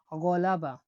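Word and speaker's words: g'alaba: পরবর্তী অক্ষরটি দেখুন, জি এর উপরে একটা এরকম একটা মাত্রা, তাহলে কি হবে? জি এর উপরে মাত্রা, জি এর উপরে মাত্রা, এটা উচ্চারণ গয় হয়ে থাকে, বাট এই গটা আরবি গয়নের মতো হয়ে থাকে, গ হিসেবে। আমি উদাহরণটা বলছি আপনাদেরকে, দেখুন গলাবা, গলাবা মানে একটা হলক থেকে উচ্চারণ হবে, গলাবা।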